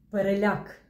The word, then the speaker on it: переляк: Усім привіт Так це знову наголос Отже 4 слова перекис перепис перепад але переляк якщо у вас цікавить чому